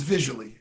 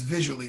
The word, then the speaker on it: Vizully: of the product is visually it's viz you LOI and as visually as how it's pronounced just like something you see with your eyes it is gonna launch